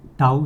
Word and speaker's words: tau: Tau is उल्टा lateral inverted j लिखने का, okay.